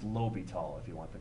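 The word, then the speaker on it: L'Hôpital: but we just said we're taking it to La hospital I don't know why it just looks too much like the hospital not to but it's Lobby tall if you want the correct pronunciation okay so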